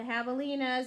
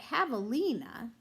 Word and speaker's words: javelina: javelina remember is that javelina is spelled with a J because javelina is a Spanish word and in the Spanish language J makes a sound instead of the J sound so many of you